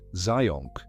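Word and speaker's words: Zajonc: Let me start with something a psychologist named Robert Zion discovered back in 1968. His name is spelled in a way that looks impossible and is pronounced more or less like science with a zed.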